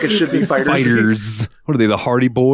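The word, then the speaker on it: FighterZ: ] pronounce this game I call it Dragon Ball fighter Z is it just Fighters it is just Fighters it I always thought it was fighter Z too dude fighter Z sounds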